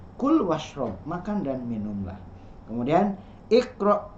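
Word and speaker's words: كل واشرب: Kul, nah di situ ada kul, nah, apakah dibacanya wa ishrob? Tidak, tapi kul washrob, makan dan minumlah.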